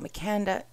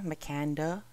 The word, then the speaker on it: Makanda: Let's talk next about Makanda, Illinois. Makanda.